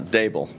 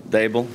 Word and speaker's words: Daboll: it's Daboll. D like table, Daboll.